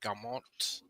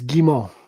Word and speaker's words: Guimont: course, the great Frederick Gamont. Am I pronouncing it right? Close. It's Gimmo. Thank you. It is French. That's why you don't pronounce the last T.